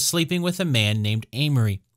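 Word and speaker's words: Aimery: Well, some historians believe that Agnes was sleeping with a man named Amory. Amory, which is spelled A-I-M-E-R-Y, invited his younger brother to come to Jerusalem, who accepted the invitation and arrived somewhere around 1180.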